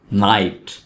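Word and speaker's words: knight: नाइट. नाइट में के को नहीं पढ़ेंगे, के यहाँ पे साइलेंट है, तो वर्ड है नाइट.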